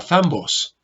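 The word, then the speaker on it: θάμβος: Escribo su pronunciación acá, zambos.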